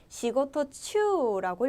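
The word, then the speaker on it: 仕事中: 내가 지금 하는 중 하는도 중이라고 할 때 시고토 추라고 읽어 주시면 되겠습니다 부제 중이라고 하실 때도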